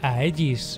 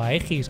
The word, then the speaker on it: Aegis: Vamos a hablar directamente de la marca de Aegis, o Aegis, como prefiráis pronunciarlo.